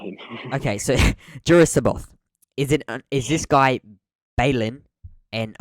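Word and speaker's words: Jorus C'baoth: guy, big bro, the big Juris Sabuth. No, Saboth. I literally practiced pronouncing the name. Juris Saboth.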